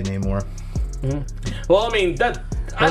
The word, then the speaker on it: Namor: Someone corrected me on how I say Namor. Like they're like, oh, it's Namor, and I was like, well, whatever, I don't care.